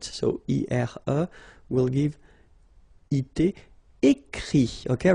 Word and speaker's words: écrit: Écrire, to write, so ire, will give it, écrit, okay. Remember that even if you've got this final t, you don't pronounce it, so it goes like écrit, okay.